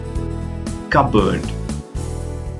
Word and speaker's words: cupboard: Here, you don't have to pronounce the letter P. And the first one is pneumonia, no P. Pseudo, psychiatrist, raspberry, cupboard.